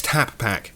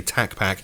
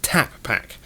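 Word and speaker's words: TapPak: is the or X tap pack now careful on the pronunciation we didn't just say Tac pack said tap pack orbec have announced that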